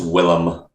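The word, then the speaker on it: Willem: defo not William defo is it yeah it's Willam oh interesting weird I think I'm pretty sure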